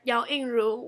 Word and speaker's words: Yao Yingru: Well, actually, Inju Yao or Yao Yingru, which is the Chinese pronunciation of my name.